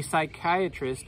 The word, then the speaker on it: psychiatrist: can't you hear a psychiatrist using the bathrooms you don't know because the P is silent yeah yeah the P is silent the beginning yeah alright alright here